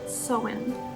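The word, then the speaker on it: Samhain: but i do believe i'm in gaelic it's pronounced so wind i'm pretty sure so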